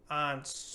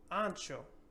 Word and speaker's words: ancho: So in this word, we're not going to say anso or anco or nothing like that, but we're actually going to give this H a sound. So ancho, ancho.